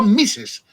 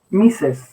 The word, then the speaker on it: Mises: de economía b b mises se escribe tal como lo oyes misses exacto y se escribe